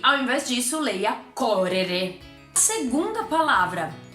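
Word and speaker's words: correre: correr um verbo correr em italiano se fala coré coré tá lembra do erre do vovô e acrescenta o e no final ele também é escrito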